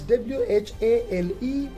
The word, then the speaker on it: whale: that is spelled as w-h-a-l-e and it is pronounced as whale so h is again silent here similarly in the word